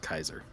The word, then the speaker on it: Caesar: it's very interesting um it's Caesar now I've been playing a lot of Fallout New Vegas right I'm pretty sure it's pronounced Kaiser okay k kaisar um but uh I